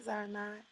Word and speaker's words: Zarinah: Zarina. Zarinah.